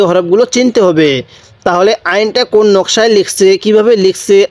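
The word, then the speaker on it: عين: সাথে বলুন হ্যাঁ এরপরে আইন আইন গলার মধ্যে চাপ দিয়ে পড়বো এরপরে আমার সাথে আপনিও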